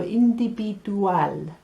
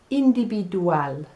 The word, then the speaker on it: individual: have una pitasion indipidual now that's like individual but the sounds are a little bit different so escucha indi in english we have jewel and espanol is a cleaner sound dual in and the v makes a sound so individual individual for favor now i